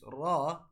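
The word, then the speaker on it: راء: So whenever we'll pronounce ra, the edge of our tongue will touch the tip of gums of lateral incisors.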